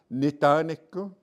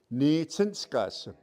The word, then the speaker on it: Nitsinskasem: Nitaniku. No, you don't say nitaniku. Nitsinskasem. That's the proper way to say my name is. You don't say nitaniku. You heard it first from Mr. Delaney. It's Nitsinskasem.